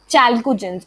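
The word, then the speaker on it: chalcogens: सो चैल को and gents. Okay, सी देखो मैंने कैसे तोड़ के उसको कर दिया चैल्कोजेंस.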